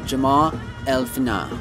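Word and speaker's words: Jemaa el-Fnaa: Medina and the square now forgive my pronunciation I don't speak Arabic but I believe it's Jama elfina the origin of the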